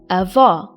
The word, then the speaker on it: avó: Avô or avó?